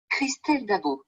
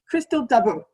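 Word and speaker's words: Christelle Dabos: I'm just going to play the Google pronunciation of her name. Christelle Dabo. Yeah, Christelle Dabo.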